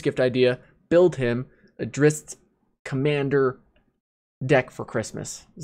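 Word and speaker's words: Drizzt: it's not drizzit right it's drist but jordan but it's uh everyone just says drizzy because it's it i think it's a cooler sounding name drizzy even if it's not the right pronunciation the point is we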